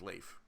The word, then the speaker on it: Leif: It's not Leaf, it's Leif, but whatever, it's close enough. I know that it's Leif because I know a guy named Leif, but whatever. It's a good name. I'm sure most people mispronounce it.